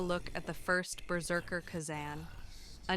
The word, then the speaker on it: Khazan: I I have only recently learned how to pronounce Kazan. I thought it was Kazen before, but rest assured, I've